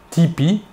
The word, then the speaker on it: TP: son nom et prénom tony parker a prononcé tipi avec l'accent américain il joue maintenant dans